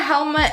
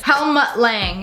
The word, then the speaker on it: Helmut Lang: So I got a helmet. I don't even know how to say this. Helmut Lang.